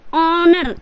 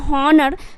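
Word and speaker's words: honour: तो क्या हो जाएगा यहां पे एच अगर साइलेंट कर देते हो मतलब समझो कि एच है ही नहीं है यहां पे तो क्या बोलोगे ऑनर इसका जो उच्चारण करोगे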